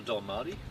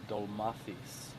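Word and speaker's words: ντολμάδες: It's called a Dolmarty? Yeah. It's actually pronounced Dolmathis, and that's what the like.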